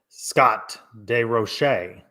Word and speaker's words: Scott DeRoche: Scott DeRoche. It's the first time I've ever said that properly, because he sent in a pronunciation a couple of weeks ago. So he said roll the R.